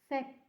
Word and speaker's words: sette: Sette. Making the pause before the double T.